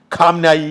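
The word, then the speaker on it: خامنه‌ای: കമേനിയാണ് ഐത്തുള്ള അലി കമേനിയാണ് കമാനിയുടെ Arab ഉച്ചാരണം ഖംനായി എന്നായിരിക്കണം ഇവരാണ് പലപ്പോഴും കൃത്യമായി ഉച്ചരിക്കുന്നത് അങ്ങനെ ആയിരിക്കണം അറബ് ഉച്ചാരണം അതായത് മാധ്യമം എന്ന ജമാത്ത്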